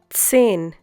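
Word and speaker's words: zehn: in oil in English sin once again sin hope you remember the pronunciation of Z in German it's TS else once again else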